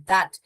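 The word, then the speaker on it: that: दैट हम थोड़े थट थट पढ़ते हैं।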